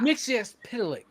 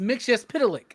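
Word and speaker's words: Mxyzptlk: It's Mitch Pitilik. Come on y'all. Whatever, man. They say it like eight different times. It's like Tinian and Tinan. No, it's not. It's Tinen and it's Mix Pitilik.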